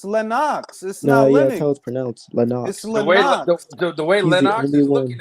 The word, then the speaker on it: Lennox: you you only want them but what what pronounce lennox's name bro it's lenox the way lenox is looking at it shut